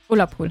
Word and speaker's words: Ullapool: Spricht man das richtig aus? Ullapool? Allapool? Wie heißt das? Ne, da steht Ulla. Ullapool.